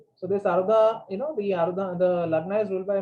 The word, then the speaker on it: Arudha: So this word Ardha Lagna, how do you spell it? Ardha? A-R-D-H-A? A-R-U-D-H-A, Arudha.